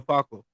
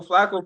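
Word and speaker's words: Flacco: more or Joe fox or who Joe Joe FCO I'm saying his name wrong Joe Flo same thing but Joe Flaco kind of falls into that same category of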